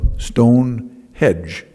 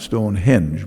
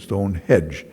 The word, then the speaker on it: Stone Hedge: Detroit that he called Stone Hedge not Stonehenge but Stone Hedge I kept mispronouncing it